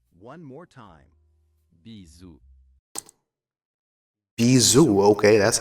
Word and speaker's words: bisous: Pro pronunciation? Play? For kisses. Let's say it all together. Bisous. One more time. Bisous.